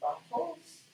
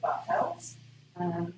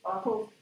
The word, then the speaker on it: Bartels: It comes from Chapman and I'm told it's pronounced Bartels. I've always pronounced it Bartels, but Gillian assured me it's Bartels because he was director of the observatory here back in the day.